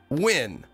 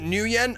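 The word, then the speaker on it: Nguyen: the name is per as far as I know the name is pronounced win so Windex is the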